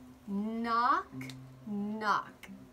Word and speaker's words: knock: we tap this out we have a silent K and it says mmm knock-knock so let's do this